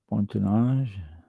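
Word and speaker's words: bâtonnage: it's a basket press all hand done uh bonage yeah bonage bonage bat o n n a g e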